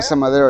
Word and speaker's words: Casa Madero: Casa Madero. okay. Did I say it right? Casa Yeah, Madero? Casa Madero, yeah.